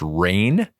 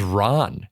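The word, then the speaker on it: Rahne: was finding out that wolf Spain's name is pronounced rain for years since childhood think it I thought it was Ron it's r a h n e the whole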